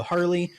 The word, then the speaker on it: Harle: and we encounter uh Harley her name is spelled like uh Marl but it's pronounced Harley because she's literally a